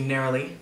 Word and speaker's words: neroli: Smells slightly of like a neroli. Excuse me, neroli.